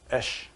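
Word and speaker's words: אש: That fire in Sanskrit, or in Hebrew, is called Esh. It is spelled Aleph, Shin.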